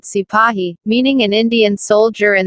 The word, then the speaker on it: sepoy: Sepoy, this is how the British pronounced the word sipahi, meaning an Indian soldier in the service of the British.